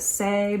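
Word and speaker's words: Saie: brand is say hello i'm assuming you pronounce it say because the website is say hello brand say s-a-i-e i don't know okay you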